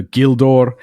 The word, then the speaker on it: Gildor: So Gildor, Gilrain, Osgiliath, they all begin as in the English guild.